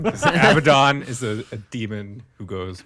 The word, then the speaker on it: Abaddon: workshop says it about games workshop is wrong avadon is a demon who goes much further back